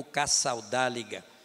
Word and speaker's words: Casaldáliga: Nós aprendemos, não é, que ética na política, aprendemos com Dom Pedro Casaldáliga, ou Casaldáliga, né, pronunciando em espanhol, que foi durante muito tempo bispo de São Félix do Araguaia.